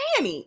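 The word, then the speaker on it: Fani: if you wanted us to say fonny then maybe your mother and father should have spelled it differently or you know once you got grown you like uh people keep calling me Fanny because it's spelled that way nobody's trying to be disrespectful it's spelled that way it's spelled f a n i it's it's it's Fanny I'm sorry and you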